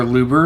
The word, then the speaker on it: Aluber: We got 3 Alubert, Jester of DESPIA, or Luber if you want to pronounce him that way.